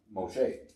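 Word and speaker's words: משה: moses but we in hebrew because things is pronounced moshe yes sorry that's why when you girls say moshe that's the hebrew that's right that's right pronunciation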